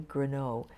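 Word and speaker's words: Grenough: Her name was Millie Greneau. It's spelled like enough with a G-R in front of it.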